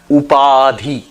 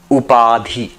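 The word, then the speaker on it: उपाधि: This concept is called upadi. Upadhi in um if you want to spell it up a d h i up p a d h iadi.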